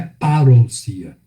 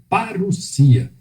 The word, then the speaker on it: parousia: em algo até voz gosta de pronunciar parousia mas não é parou cia a pronúncia correta parecia essas duas vogais juntas of cruz y tem som de u azul e não parou